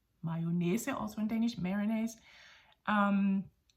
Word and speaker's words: mayonnaise: y o dou n a i s e mayona also in Danish Marines um and there was